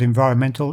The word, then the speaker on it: environment: noun to the adjective the noun has the stress on the second syllable environment while the adjective is on the next to last environmental so that's something to